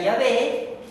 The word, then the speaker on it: Yah: a y la e que en hebreo se pronuncia yah y en griego se pronuncia Jehová pero ambas palabras significan